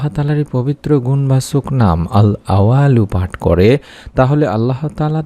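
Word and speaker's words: الأول: সন্তান লাভের মনোবাসনা পূর্ণ করে দিয়ে থাকেন সুবহানাল্লাহ উচ্চারণটা হলো আল আওয়ালু আল আওয়ালু যার অর্থই হচ্ছে সবকিছু শুরু আমরা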